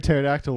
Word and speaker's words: pterodactyl: does anyone hear a pterodactyl when it uses the bathroom the p is silent the p is not